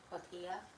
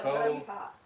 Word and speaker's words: Cotija: Cotilla. Cotilla. Cotilla. She said on here, sorry, I'm not fast lady. It's okay. I heard you. Cotija. Cotija. Okay. Yeah, because J always sounds like a.